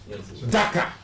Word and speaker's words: Dhaka: Dhaka. Dhaka. You understand? I think there is, a chasm between the two pronunciations. The first one, which has to do with Senegal, is Dakar. This Dhaka.